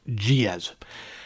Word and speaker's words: Giez: The pronunciation was always confusing for a lot of people, but I was told and confirmed it was pronounced Giez.